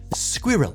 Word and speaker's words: squirrel: In Britain, similar to caramel, the word is broken up a bit more sensibly. Squirrel. But in American English, we don't have time for two syllables.